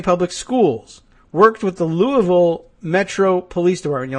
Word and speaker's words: Louisville: Wednesday night, Jefferson County Public Schools worked with the Louisville Metro Police Department. You like the pronunciation? Louisville, which is not Lewisville or Buuna Vista or anything like that.